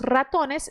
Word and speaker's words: ratones: Los ratones se reunieron para ponerle fin a tan difícil situación.